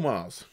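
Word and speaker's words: Magrs: uh so I'm going to recommend uh Paul Mars he's a book tuber I discovered recently he's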